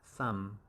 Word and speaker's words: thumb: some and over here b is usually silenced so it's just like that sum sum sum and 25 is our